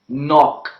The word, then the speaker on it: knock: Then we have the words knickers, knock, knowledge, and etc. So these are the words in which the letter K is silent.